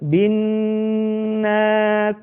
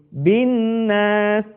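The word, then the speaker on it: النَّاس: Sekali lagi perhatikan kalimat binnas. Kita tidak membacanya dengan tergesa-gesa menjadi binas, tetapi tahan suara kita.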